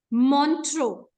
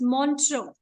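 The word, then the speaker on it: Montreux: u x children please pay attention to the pronunciation it is montro what what is it montro the spellings are m o n t r e u x but it is pronounced as montro on the on the Swiss Ria Ria is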